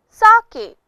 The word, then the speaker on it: sake: Father F A far K rhymes with way sake our fifth word is